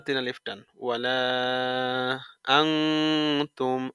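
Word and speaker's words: أَنَا: সাকিন হয়ে কলকলা হচ্ছে আনতুম আবিদুনা মা আবুদ আবুদ লা বাতিন আলিফ ওয়ালা আনা এই যে আনা শব্দ ঠিক আছে ওয়ালা আনা এই আনাটাই ওই যে আনা শব্দ টানতে মানা ওই টানতে মানার ওই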